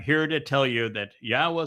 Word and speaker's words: Yahweh: 1,000 other Hebrew words, the pronunciation of Yahweh is straightforward. It is irrefutable. The Yod, the He, and the Wah are all vowels.